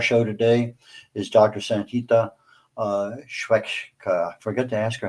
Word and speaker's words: Swechcha: Pronounced as Swechcha.